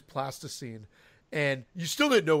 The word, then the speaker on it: plasticine: I kept calling it plaster scene and Eric did a nun c8 and I think he's trying to get back is going I was I was pronouncing it incorrectly because it is plasticine and you still didn't